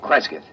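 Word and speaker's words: Cresgyth: instead as um well, I'll I'll spell it. C R E S G Y T H. Krescat. What's that? Local. Well, that's his phonetic interpretation of the name the people here use.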